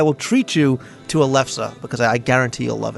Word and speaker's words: lefse: And I made the mistake of pronouncing it wrong, so I thank Liz for giving me the correct pronunciation. A lefse it's odd because it's